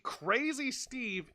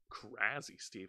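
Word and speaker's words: Crazzy Steve: they're pronouncing his name it has two Z's the way you pronounce that is crazy not crazy crazy Steve okay so crazy Steve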